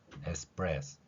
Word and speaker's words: espresso: 이렇게 발음을 하는 것 특히 이탈리아에서는 핏소리가 우리말 쌍비읍 소리에 자연스럽게 들어가 있기 때문에 에스프레스 이렇게 표현할 수 있고요이 프레스의 뜻은